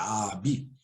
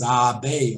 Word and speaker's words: abi: Como está aí embaixo, vocês podem ver, se pronuncia Abi, né? Com algumas variantes, Abi ou Abi, sem o G com um chapéuzinho, que significa literalmente irmão mais velho, né?